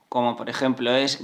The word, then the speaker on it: guitarra: When you see gue or gui, the pronunciation will be /ge/ or /gi/, which means that this u is silent, it is not pronounced.